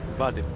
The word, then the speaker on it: Vadim: So let's see what he can bring to the table with Vadim, not Adim, sorry.